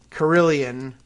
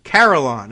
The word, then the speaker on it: carillon: on the computer here caroline okay there you go so like caroline but but you know bells and uh oops now